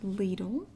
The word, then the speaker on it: Lidl: anyway that is everything I got today at Lidl and that is how it's pronounced I confirmed it so if you don't